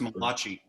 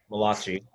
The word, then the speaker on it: Malachi: of the Old Testament, the book of Malachi, Pronounced Malachi. Malachi.